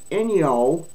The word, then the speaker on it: Inyo: Counties with small populations, including Inyo, I-N-Y-O, Inyo, B-U-T-T-E, Butte, Mendocino, and T-U-O-L-U-M-N-E, I can't pronounce that, Tuolumne, would be exempt until 2027.